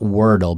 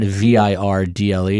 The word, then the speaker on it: Wordle: Not Wordle, but Verdle. Also, how do you spell it? Word L-E. Word L-E. Wordle. So it's not Virdle. It's not Verdel. It is Wordle.